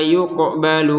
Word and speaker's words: yuqbalu: An nafsin syai'aw wa la yuqbalu minha, lanya 2 harokat, qafnya dipantulkan yuqbalu, jangan sekedar yuqbalu yuk.